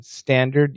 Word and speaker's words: standard: Binit, hi Shane, could you please let me know if T is pronounced in standard? Yes. No, it absolutely should be. It should be pronounced, Binit.